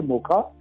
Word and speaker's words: Mocha: वैसे तो सेल बेशक MOCHA है, पर इसको बोला जाना चाहिए मोका, MOHA जैसे होता है, मोका बोला जाना चाहिए इसको। यमन द्वारा जो कंट्री है उसके द्वारा दिया गया नाम है इसका, और प्रोनाउंस मोका होना चाहिए जी।